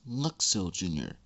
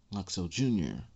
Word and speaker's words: Luxo Jr.: And yes, I said it and pronounced it correctly. It's Luxo Jr. And yes, that's the name of that tiny lamp, Luxo Jr.